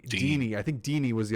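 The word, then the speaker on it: Digne: say his name uh Dean Deanie I think Deanie was the other one I heard Deanie and then digy and then Dean Dean's good I think Dean's fine it's French Dean Dean uh so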